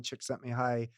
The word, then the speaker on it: Csikszentmihalyi: you know tap into that River that muhuali Csikszentmihalyi wrote about in flow his book famous book